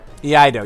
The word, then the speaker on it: Iaido: Iaido.